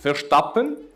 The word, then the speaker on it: Verstappen: And next we have team, I believe it's pronounced Verstappen.